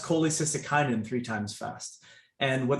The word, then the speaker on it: cholecystokinin: intestine there's a hormone called cck and uh pronounced cholecystokinin three times fast and what that hormone does